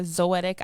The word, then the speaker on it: Zoetic: It's called Zoetic Island, ZOETIC. It rhymes with poetic, so you can't forget it.